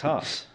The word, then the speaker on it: Haas: How do you say it? Haas or Haas? I say Haas. Apparently it's Haas.